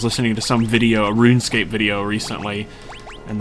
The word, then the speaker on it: RuneScape: I was listening to some video, a RuneScape video recently, and the person kept pronouncing it RuinScape.